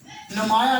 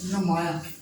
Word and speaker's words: نمایاں: لفظ ہے وہ ہے نمایاں۔ نمایاں نہیں ہوتا، نون کے اوپر پیش آئے گی، نمایاں۔ اس سے اگلا جو